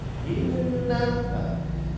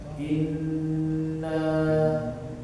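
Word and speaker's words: إِنَّا: ba ibba ada berkanan tapi kalau huruf nun ataupun huruf mim itu harus ditahan saja in jangan in Inna tapi kalau dia Nun atau mim harus ditahan saja ditahan dan diungkan Inna a ya ya itu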